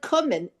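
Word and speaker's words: קומען: If you look at the word Kummen, it's not spelled as Kimmen. It's spelled as Kummen. Right, but that's the standard Yivo spelling, but Yeah. millions Right, of people said Kimmen, and they still say Kimmen Me, because I- we're obstinate.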